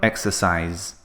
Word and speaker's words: exercise: exercise becomes exercised now notice the ending of exercise the spelling is se but the sound is like a Z sound exercise so we just add